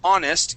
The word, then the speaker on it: honest: All right, so honest, even though it starts with an H, we do not pronounce that H.